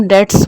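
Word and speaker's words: debts: All obligations of business is called liabilities, या जो डेट्स होते हैं, डेट्स मतलब कर्जे, DBTS बोलते हैं, लेकिन उसको बी साइलेंट होता है तो हम डेट्स बोलते हैं।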